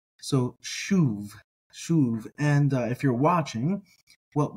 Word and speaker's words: שׁוב: that um that is spelled Shane valve or vowel bait soov and if you're watching